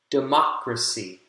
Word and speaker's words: democracy: the word syllable stress democracy democracy democracy democracy second syllable has primary stress and we'll do one